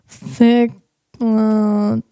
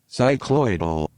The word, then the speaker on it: cycloidal: How do you pronounce cyclodol? Cyclodol. Go. Cycloidal.